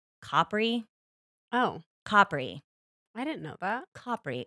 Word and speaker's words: Capri: douche I'm like cpri cpri but he's right he's still a douche but that is in fact how you say it the place in Italy well I guess he